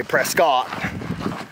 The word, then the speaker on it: Prescott: Valley we brisket sorry let's get like a biscuit press get like a biscuit let's move other travelers have told us from Georgia we say Prescott but let's stop right